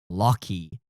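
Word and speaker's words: Loki: My name is pronounced Locky.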